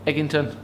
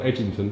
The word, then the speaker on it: Eggington: right but go on how do we pronounce it go on eggington it's not Edington no it's ewg i n g not not e d g that'll be dashed wouldn't